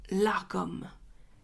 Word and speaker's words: lagom: on va parler du largom qu'est-ce que le largom c'est aussi la prononciation la bonne normalement sinon ça s'écrit la Gom l a g o